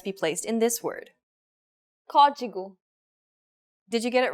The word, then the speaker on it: Código: Código. Did you get it right? The stress is on the first syllable. The acute accent should have been a dead giveaway.